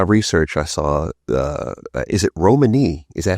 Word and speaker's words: Romany: And from my research, I saw, is it Romany? Is that how you pronounce it? Yeah, Romany?